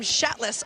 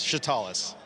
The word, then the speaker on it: Shatalis: he told me you're saying it wrong. How do you say her name? It is Shatalis.